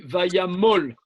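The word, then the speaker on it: וַיָּמָל: Je sais par expérience que on dit Vayamol. Les deux kamats, le deuxième se prononce O.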